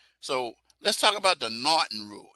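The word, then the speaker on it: M'Naghten: let's talk about the norton rule it's right that's how it's pronounced not it's not m not it's not uh it's the m is silent and it started out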